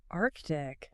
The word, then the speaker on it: Arctic: And and then Arctic. Arctic. People drop that C all the time, but it is supposed to be there.